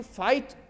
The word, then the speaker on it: fight: में हो या GST हो तो GH को साइलेंट कर देना है, जैसे HIGH हाई, देखते हो ना, HIGH हाई, HIGHT हाइट, FIGHT फाइट, है ना, GH ई नहीं घ घट।